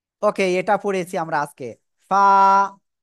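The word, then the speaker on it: ف: ফা, নিচে টোটের পেট, উপরে দুই দাঁতের আগায় লাগাবো, লাগিয়ে হালকা বাতাস বের করে এক আলিফটা নিয়ে উচ্চারণ করব।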